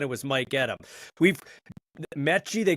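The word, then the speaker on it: Metchie: I'm not exactly sure when it changed, but I just remember him telling me, yeah, it's actually pronounced Mechie, and I was like, oh, I was kind of caught off guard too.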